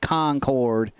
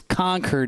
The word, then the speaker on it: Concord: down south anymore so I can't say it Concord it's conquered New Hampshire we will we will